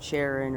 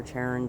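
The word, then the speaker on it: Charon: with its largest moon sharon or taran depending on how you like to pronounce that and they both co-orbit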